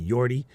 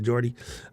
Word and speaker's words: Jordi: say it correctly Norland it might be yordi instead of Jordi um no Jay in